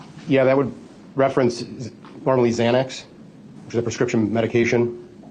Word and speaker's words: Xanax: But in your work as a detective, especially in the drug field, you know that people commonly think it's really spelled with a Z.